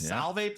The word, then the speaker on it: Solvay: Solvay proper.